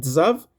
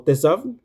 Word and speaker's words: Tzav: Esos son los cuatro versos que dan comienzo a la porción de la escritura llamada zav o mucha gente la pronuncia como tab, que significa ordena o manda.